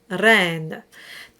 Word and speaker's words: reine: And normally for classical music, my advice is to roll the R on the tip of the tongue, as in the word reine.